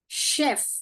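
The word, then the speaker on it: chef: अब ये देखिए ये क्या है? शेफ। क्या है? शेफ। मैंने बताया था इसको चेफ करके बहुत लोग पढ़ते हैं।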